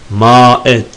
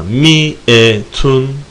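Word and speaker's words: مئة: Aşara 10, işrune, selasune, erbaune, hamsune, sittune, seb'une, semanune, tis'une, ma'et değil ama mi'etun, mi'etun. Orada elif var, uzatalım, yok uzatmayalım. Mi'etun şeklinde okunur.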